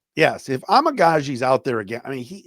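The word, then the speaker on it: Amegadjie: But give me the pronunciation. Yeah, Amagaji. Yes, if Amagaji's out there again, I mean, that poor guy.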